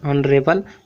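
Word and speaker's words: honourable: तो ऑनरेबल में भी हालांकि एच है, लेकिन उच्चारण तो ऑन हो रहा है ना, ऑनरेबल वुमेन।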